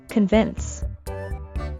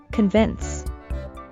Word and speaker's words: convince: is true through evidence the word is stressed on the second syllable convince and don't forget the sound at the end convince his enthusiasm convinced the